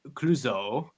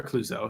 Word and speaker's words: Clouzot: So the director, Henri Georges Clouzot, and it's not Clouseau like the famous French detective played by Peter Sellers. Yes. It is spelled differently, but pronounced in a similar way.